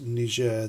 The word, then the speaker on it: Niger: reason I will be pronouncing the name of that country as Niger the French version and so yes it is kicking off in Niger about a week or